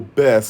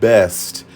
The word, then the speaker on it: best: Yo, Bess, swear. Negro, you can't even pronounce the word best. It's always Bess. Bess. Very similar to mess, which is what your whole existence is, a big old mess.